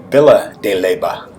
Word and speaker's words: Villa de Leyva: Once I got here, I realized that part of my problem in navigating was that Villa de Leyva is pronounced Villa de Leyva.